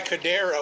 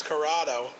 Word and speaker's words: Curado: messed that show up I kept calling the guy cadero and his name is curado you know if they